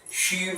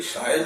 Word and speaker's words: Sion: Shiv, and that is why, that actually Sion is a very wrong pronunciation. Rama will appreciate. Shiv ha shabd typical Gramina hai. Gawachi Shiv asте. End of the... So that is not Sion, that is Shiv of Bombay.